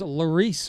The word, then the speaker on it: Laurice: need Loris Motorsports insurance so I was pronouncing that wrong that is Laurice Motorsports insurance if you're your car